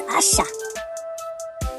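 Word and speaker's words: אשה: It is Aishah. Aleph, Shin, Hey. The next word is judge. That is Shaphat. It is spelled Shin, Pei, Tet.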